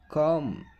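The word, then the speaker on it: calm: ಅಂದ್ರೆ form form ಶಾಂತವಾಗಿರು ಕಾಮ್ ಕಾಮ್ ಅರ್ಧ half ಇಲ್ಲಿ ಸ್ನೇಹಿತರೆ ನೋಡಿ ಬಹಳ ಇಂಪಾರ್ಟೆಂಟ್ ಎಲ್ ಸೈಲೆಂಟ್ ಆಗ್ತದೆ ಅದಕ್ಕೆ ಬ್ರಾಕೆಟ್ ಅಲ್ಲಿ ಕನ್ನಡದಲ್ಲಿ ಕೂಡ ಹಾಕಿದೀನಿ ಯಾವ ರೀತಿ ಉಚ್ಚಾರಣೆ ಮಾಡಬೇಕು ಅಂತ ಹೇಳಿ ನಡೆದಾಡು ವಾಕ್ ವಾಕ್ ಜನಸಮೂಹ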